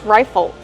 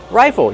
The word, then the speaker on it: rifle: How do we pronounce rifle? Rifle. Use a long I like I and like rye. Rifle. Plus the short sound and the dark L. O. Like in table and bottle.